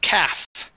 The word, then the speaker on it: calf: Okay, now, I do want to review the word calves and calf. Okay, that will have an F at the end. And the L is going to be silent. Okay, we say calves and calf.